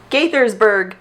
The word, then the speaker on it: Gaithersburg: do this not under that one it is Gaithersburg Maryland really not the same right it is